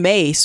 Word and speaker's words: Myss: Oh, Louise Hay, but also Carolyn Mace was one of the, and it's spelled MYSS, not MA.